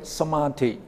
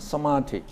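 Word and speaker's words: samādhi: concentration in bali concentration we call it somati not somatic now this is most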